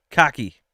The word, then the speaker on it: khaki: Nothing against it, but it's pronounced khaki as in arm colors.